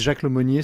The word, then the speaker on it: Jacques Lemonnier: Hello, this is Jacques Lemonnier speaking.